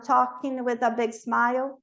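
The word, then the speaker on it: talk: falando sobre ele um toque então ele vê eles Quem são eles de novo adolescente lá o grupinho de adolescente token de novo a gente não pronuncia esse L toque S um grande Sorrisão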